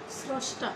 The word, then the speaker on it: স্রষ্টা: এখন বলছি যে আদ্য অয়ের সঙ্গেই যদি রফলা যুক্ত থাকে, যেমন শ্রম, স্রষ্টা, এরকম, এটা কিন্তু শব্দের শুরুতেই রফলাটি যুক্ত রয়েছে। এই শব্দের শুরুতে রফলা যুক্ত থাকলে সেই অয়ের উচ্চারণ ও এর মতো হবে।